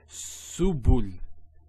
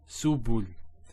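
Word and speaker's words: سُبُل: So we have, if we break this up, there's a sin with a dhamma. Then there's a ba with a dhamma, and there's the lam.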